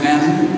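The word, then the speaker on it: מָן הוּא: In Hebrew, the question is pronounced manu, which is where the word manna comes from.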